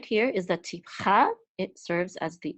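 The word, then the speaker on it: טִפְחָא: And this right here is the tipcha.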